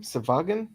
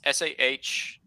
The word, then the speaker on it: Sahuagin: How do you pronounce that lizard name? Savagan? Sahagin. It's Sahuagin.